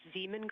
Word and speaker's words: Zeeman: I may be pronouncing that wrong. What's the first letter of that word? Zulu. It's Zeeman.